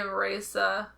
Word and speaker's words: Raze: It is being held by a vessel named Raze. I always say Reza, like a German pronunciation.